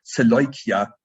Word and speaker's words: Seleucia: if you consider that you have to use the Greek pronunciation, Seleucia, not the English one.